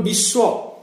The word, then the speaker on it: বিশ্ব: আর অন্তস্থ ব এর উচ্চারণটা হচ্ছে উ, ডব্লিউ, ডব্লিউর মতো, যেমন বিশ্ব, বিআইএস ডব্লিউ এ।